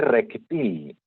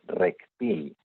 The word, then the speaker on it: reptil: Mira ese reptil. También muchas veces pronunciamos reptil, pero no. Lo correcto es reptil.